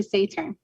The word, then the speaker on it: Saturn: No, you said it pretty well. It's actually Saturn.